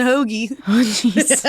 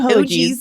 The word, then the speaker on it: hoagies: errors Reading Terminal and how do you say Hoagies it was like it wasn't it wasn't Hoagies it was like oh geez and that was sending